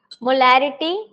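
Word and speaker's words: molarity: देखिए यहाँ पे रिटी और लिटी दो चीजें हैं। बोलने पर जब हम क्या करते हैं, प्रोनाउंस करते हैं ना, तो सिमिलर लगता है, लेकिन इट्स नॉट सिमिलर। इसका जो आपका साउंड है, आप ध्यान से सुनो, मोलैरिटी, मोलैरिटी और मोलैलिटी। एक में रिटी बोल रही हूँ और एक में लिटी बोल रही हूँ।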